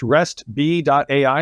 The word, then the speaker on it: Restb.ai: And it sounds like for nearly almost 10 years now, and is it pronounced RESTB.ai?